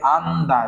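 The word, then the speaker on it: 앉다: পাশেরটা উচ্চারণ করব এবং এই ক্ষেত্রে কি করব, সামনেরটা উচ্চারণ করবো, ডানেরটা বাদ দিব। তাহলে এখানে কি হবে, আন্দা, জিয়ত কি হবে, বাদ যাবে, তাহলে আন্দা, আন্দা মানে কি বসা।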